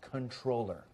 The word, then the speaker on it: comptroller: that was a misspelling comptroller is pronounced controller thank you wait a